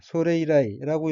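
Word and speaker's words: それ以来: 다음 어귀는 한자가 이레이고 각기 써이, 올레자이고 일본어로는 소레이라이라고 읽으며 소레이라이는 그것, 현재 화제로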